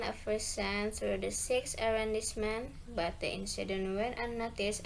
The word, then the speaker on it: arrondissement: Explanation, it's because as a French loan word, the stress falls on the final syllable. So, to read it properly, it's arrondissement.